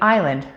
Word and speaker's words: island: word written, such as the silent S in island or the silent K in knife.